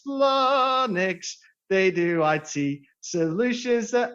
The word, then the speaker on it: Flonix: out here we go f-l-o-n-i-x if you can e-spell it greedy will instead it's flanix they do i.t solutions